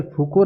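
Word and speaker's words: Foucault: फूको कह देते हैं, अंग्रेजी में फुकाल्ट कह देते हैं। अब आ गया होगा तो वही है, एक ही शब्द है। फूको आ तो गया उसमें, फुकाल्ट में भी एल टी हटा दिया, साइलेंट कर दिया।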